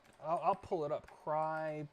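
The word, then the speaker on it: Crye: I'll pull it up cry Precision cry is spelled c-r-y-e and then the the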